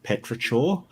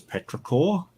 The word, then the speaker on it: petrichor: Seriously, I loved this word and I kept pronouncing it petrichor, and then I found out it was petrichor, and like I told people how it was my favorite.